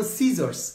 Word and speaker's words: scissors: যেমন সিজার্স, সিজার্সে লেখা আছে SCISSORS, সিজার্স। তো এখানে এস আর সি তো দরকার নাই, একটা দিলে হতো, সিজার্স SI দিলে হতো অথবা CI দিলে হতো, তো SC দিয়ে একটা ভেজাল।